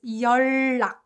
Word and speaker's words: 연락: So the way we pronounced this word, for example, was 연락, right? 연락. So we kind of replace 은 sound with 르 sound, kind of make it